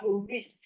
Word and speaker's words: wrist: The W in wrist is silent.